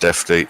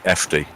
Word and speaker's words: FD: Defty isn't pronounced defty, it's just simply FD.